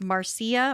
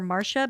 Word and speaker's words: Marcia: their daughter, Marcia, and it's spelled Marcia, so it could have been pronounced Marcia or Marcia, but for this episode, I'm going to say Marcia.